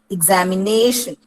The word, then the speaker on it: examination: ഇ എന്നാണ് ആദ്യത്തെ sound, examination. So if you have the word examination, it is the second last syllable which is stressed, or the second last syllable is given importance.